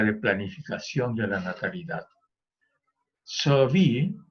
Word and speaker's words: Sauvy: Sauvy se escribe S-A-U-V chica Y, Sauvy, francés se pronuncia Sauvy, fue director del Instituto Nacional de Estudios Demográficos y director de la revista Población.